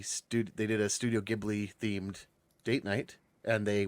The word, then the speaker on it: Ghibli: the correct one obviously Studio Ghibli oh still a hard G Noise Okay well there you